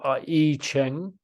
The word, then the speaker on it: I Ching: it works with the E Ching the E Ching spelled I Ching but it's um it's pronounced e Ching there is 64 different